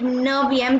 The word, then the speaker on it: neuvième: We replace F with V in ninth. Okay, so this is not neuvième is wrong, and neuvième will be the correct way to say ninth in French.